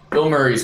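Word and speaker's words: Bilmuri: Man, Bill Murray's mandatory. How do you spell it? B-I-L-M-U-R-I. Oh. Yeah. So that it's pronounced Bill Murray.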